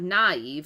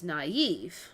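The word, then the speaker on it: naïve: So, it's not naive, it's naive. So, you would put that flick on the I to say that Eve. Eve is the accent, right? Naive.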